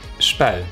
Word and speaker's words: Spui: Over there is the Spui Square, and I guess Spui is a difficult word for you to pronounce, probably, unless you're Dutch.